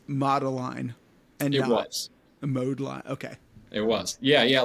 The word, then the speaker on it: Modeline: we know if the sculpting clay was also pronounced modeline and it was mode L okay it was yeah yeah a lot of